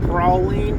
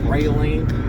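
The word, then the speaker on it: praline: So, I just got out of Bies and we got the Chewy Prowling because that's how you say it if you're from the South. It ain't proline.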